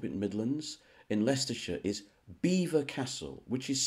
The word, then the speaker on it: Belvoir: came from up in Midlands in leicestershire is beaver Castle which is spelled Belvoir as in beautiful view b-e-l-v-o-i-r I